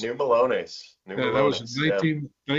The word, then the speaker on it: New Melones: pronounce that other place, New Melanos or Yeah, Melones? New Melones.